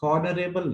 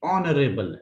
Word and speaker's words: honorable: यहां पर जो एच का प्रोनाउंसिएशन है वो नहीं होगा, हॉनरेबल नहीं है, ये ऑनरेबल है, ऐसे इसको पढ़ेंगे, ऑनरेबल।